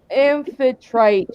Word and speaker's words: Amphitrite: I have a good idea which god you were using, but I can't pronounce her name. Hold on, I wrote it down. I'm sorry, goddess. It's Amphitrite.